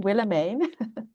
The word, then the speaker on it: Willemijn: So Willemijn, that's how we pronounce the name, Willemijn.